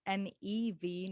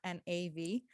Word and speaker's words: Nev: Now it's Nev, not Nav, as a lot have assumed it to be. I guess it's the way that they hear it coming out of my mouth, which is my bad because I should be saying my name properly.